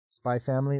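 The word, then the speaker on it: Spy × Family: of good uh vhs's spy family or spy X family um I mean I don't think you pronounce the X honestly Here We Go Again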